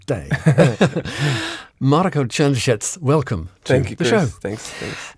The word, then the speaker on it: Črnčec: I've got your name wrong. I said Črnčec, and I've been doing that all day. Marko Črnčec, welcome to the show.